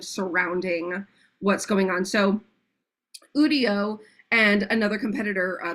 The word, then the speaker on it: Udio: Eve was showing us udio or yudo however you want to spay it say it spell it whatever um and